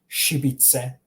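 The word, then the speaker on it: šibice: So imagine SH if you're having trouble pronouncing this. You shouldn't have trouble pronouncing this though. But if you are having trouble, think of the SH. Try to replace the sh with an SH in English, and then that's how you would pronounce it.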